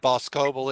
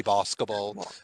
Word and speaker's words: Boscobel: I'm being told that I've been mispronouncing Boscobel. I said Boscobel. It should be Boscobel.